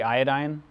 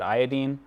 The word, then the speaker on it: iodine: One little pedantic note, how would we pronounce the one that starts with an I? Probably iodine. That's definitely an acceptable pronunciation. I've heard a good case for why we should pronounce it iodine. So F, fluorine, chlorine, bromine, iodine, iodine, acetine, tennessine. You can pronounce it either way.